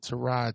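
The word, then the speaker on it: Tyrod: New York Giants started trod Taylor it's pronounced trod and I don't think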